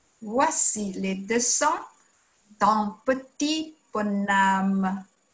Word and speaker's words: bonhomme: Voici le dessin d'un petit bonhomme. Voici le dessin d'un petit bonhomme.